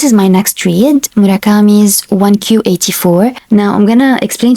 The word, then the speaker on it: 1Q84: Murakami's 1Q84. Now I'm going to explain to you the title why it's 1Q84. In Japanese the number 9 is pronounced as Q.